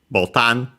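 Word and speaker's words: ボタン: Again, an accent slightly different compared to English because it's actually from Portuguese botão, but it's button. Still similar enough. Yeah, the changes in pronunciation and also being unaccented is because of that.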